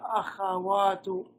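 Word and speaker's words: أَخَوَاتُ: Very important to be able to pronounce this word correctly. Most people are getting mixed up. They're pronouncing this with a kha, this with a sukoon on the kha. Right? And then they're not sure how to read it. Akhawatu, ya akhawatu.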